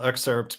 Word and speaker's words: excerpt: You actually hit the T at the end, which a lot of people don't do. A lot of people don't realize there's a T in excerpt.